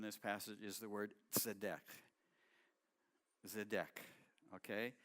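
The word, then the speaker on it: צדיק: go ahead so deck it's not natural for our tongues to say that TZ sorry and it literally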